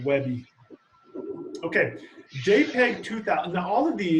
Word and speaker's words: WebP: Or it's spelled WebP, but they pronounce it Webby.